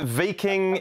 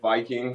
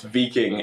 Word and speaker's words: Viking: to talk mate did i get that right v king fk i look at it and i see viking no you did you got it right i was i was also pronouncing it viking for a long time but uh yeah the